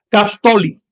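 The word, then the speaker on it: caxtolli: El 15 se pronuncia Castoli.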